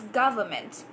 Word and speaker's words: government: It's very hard for people to pronounce the word government, and it's as simple as it could get. Government. When you say it together, it's government. Government, right? So please correct your pronunciation,